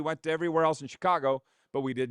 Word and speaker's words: Chicago: We were in Chicago last year, which if you know anybody from Chicago, it's one syllable. Chicago. One syllable. Nope. Chicago. It's not Chicago.